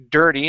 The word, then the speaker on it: dirty: we have the word dirty instead of dirty dir dirty dirty dirty dirty yeah so the IR is rarely going to be an ear sound okay most of the time it's an R uh right here instead